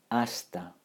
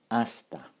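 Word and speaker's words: hasta: means also so tambien that's also a stir asta asta that's it perfect no need to pronounce the H at the beginning of asta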